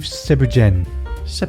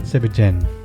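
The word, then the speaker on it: thiéboudienne: It's called, well, if you see it written down, it's thiaboudien, The Abudian. but it's pronounced, I believe, Sebrjen. Sebigen.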